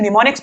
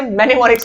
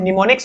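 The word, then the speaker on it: mnemonics: देखो, इसका उच्चारण निमोनिक्स होता है। 'M' अक्षर साइलेंट है। हम 'एम' का उच्चारण नहीं करते हैं। बहुत से लोग इसे 'मेनेमोनिक्स ' उच्चारित करते हैं। यह गलत है; इसका उच्चारण निमोनिक्स की तरह किया जाता है।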